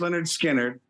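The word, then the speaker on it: Lynyrd Skynyrd: for some reason he had uh Leonard skinnard pronounced Leonard skinnard and Johnny Winter live and and uh ni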